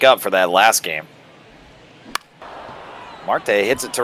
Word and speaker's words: Marte: is that how you say it is a Marte that's correct yeah I got